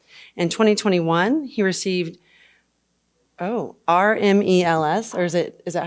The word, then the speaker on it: RMEL: more resilient Grid in 2021 he received oh r-m-e-l-s or is it is that how you say